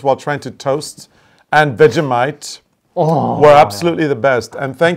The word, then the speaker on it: Vegemite: We got that Vegemite from...